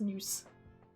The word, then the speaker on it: Nous: Okay, it is pronounced Nous.